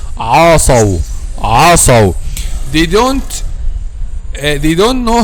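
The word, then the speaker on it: عَصَوْا: Okay, we have to pronounce this word like this. عَصَوْ. Make a letter Ain a light letter and make a letter Sad a heavy letter. Light and then Saw heavy.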